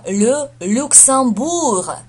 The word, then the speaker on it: le Luxembourg: Произносится Le Luxembourg. Le Luxembourg. Еще раз. Le Luxembourg. Откуда взялось ам? Потому что ЕМ это читается как ам, ам через нос.